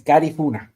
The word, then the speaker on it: Garifuna: Yeah, the right way of pronouncing is Garifuna.